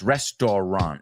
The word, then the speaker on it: restaurant: You know it's restaurant. It's restaurant. Restaurant. Dos sílabas.